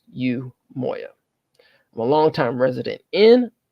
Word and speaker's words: Umoiya: greetings everyone once again my name is yoya you spell that uu m o i y a and is pronounced U Moya I'm a longtime resident